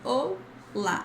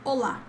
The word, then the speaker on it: olá: Anyway, the pronunciation here is olá. It's not this O. There's no O. It's just olá. Faster, okay?